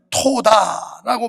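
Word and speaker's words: תודה: 사람은 매사에 긍정적이에요 부정적이지 않고 성경에 감사를 히브리어로 토다라고 발음하는데 현재 이스라엘 언어도 토다라는 발음이 감사합니다 고맙습니다 이런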